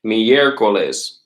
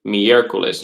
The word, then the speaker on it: miércoles: Miércoles. All right. Wednesday is miércoles. You can see the accent on the E.